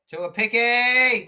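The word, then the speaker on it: Tuaupiki: Tuapiki. That's how you pronounce it.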